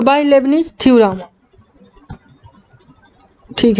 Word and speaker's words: Leibniz: तो bye Lebanese theorem, ठीक है। तो लेबनिज थ्योरम से जब हम लोग इसका nth टाइम